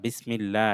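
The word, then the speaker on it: بسم الله: বাসিন জের বিস, মিম লাম জের মিল, বিসমিল, লাম খাড়া জবর লা, বিসমিল্লাহ। এটা লা হবে। আমরা পড়েছি আল্লাহ শব্দের আগে যদি জের হয় তাহলে লা হয়, আর জবর পেশ হলে ল হয়।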